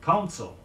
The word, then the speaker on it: counsel: Contrast consul, C-O-N-S-U-L, with counsel, C-O-U-N-S-E-L, meaning advice. Note the difference in the pronunciation of the first vowels.